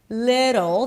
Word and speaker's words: little: Little, the T is flapped, so it sounds like a D.